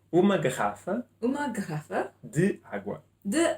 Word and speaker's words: garrafa: I was taught to say R with the throat because my teachers were from this area of Portugal.